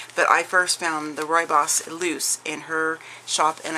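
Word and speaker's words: rooibos: some people pronounce it rubios but I've always just heard the tea lady saying Roy boss so that's how I pronounce it but this is a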